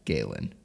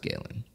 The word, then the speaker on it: Galen: the second correction that I've got is the pronunciation of Galen which you gave me crap for it is in fact Galen that's how you say it I don't recall